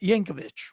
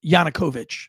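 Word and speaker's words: Yanukovych: guy his predecessor y Yankovich whatever his name was I don't know how to say it what is it to always screw up his name yanukovich sorry I want to get it right if I'm not looking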